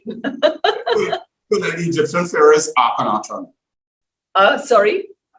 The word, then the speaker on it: Akhenaten: Is Akhenaton the correct pronunciation? That's doable, but just So tell me how you pronounce your name. so the Egyptian pharaoh is Akhenaten. Sorry? Akhenaten.